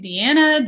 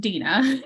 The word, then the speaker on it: Dina: name is Dina people call me Deanna Diana Diana all kinds of random things but it's pronounced Dina but I'm open for you calling me whatever is nice and wonderful but it is Dina I am a Maps